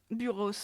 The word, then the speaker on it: Buros: Buros, ouais. Il prononce son S, ouais.